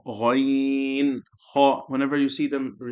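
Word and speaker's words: غ: When you're saying Gha, make sure they're not saying Goy, Ga. They're not saying Gai, Gha. Say Gha, Ghain, Ha.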